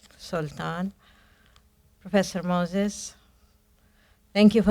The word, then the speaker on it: Sultan: If I pronounce it, it's out of habit. because that's how the word is pronounced in Arabic, Sultan.